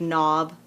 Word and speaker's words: knob: might have that like knob like to turn the door knob that has a silent k as well boat one uh uh